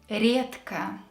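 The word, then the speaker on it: редко: healthy number seven is rietka rarely so here we have the letter which is voiced near ka which is unvoiced and when we have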